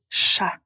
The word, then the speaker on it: chat: Donc par exemple chat cha s'écrit c h a t mais la lettre t on ne la prononce pas donc on dit encha ou bien vous.